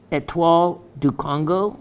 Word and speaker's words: Étoile du Congo: It has a heavier feel, and this is from the Étoile du Congo mine. In other words, it's easier to say it in English, but that is the French pronunciation of the mine.